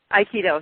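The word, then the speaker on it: Aikido: I'm hoping I'm pronouncing this correct. So correct me if I'm wrong. Is it Iikido? Iikido.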